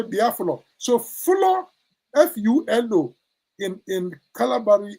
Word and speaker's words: Biafra: The Portuguese mispronounced it to be Biafra. You see the B-I-A is still there, but the flour, they pronounce it fra.